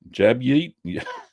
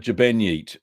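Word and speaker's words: Ġbejniet: Upcoming videos this week, we're going to be doing, and hope I got the pronunciation right, Jabnyit, Jabenyit, that's how you say it, Jabenyit, Tal Bazaar.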